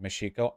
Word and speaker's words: Mexico: Father prepared for Cortez it's pronounced meshiko I'm not going to